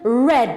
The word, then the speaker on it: read: changes in pronunciation so the verb to read in the infinity form is read or in the present it's read but in the past form it becomes red like the color red right sing becomes sangha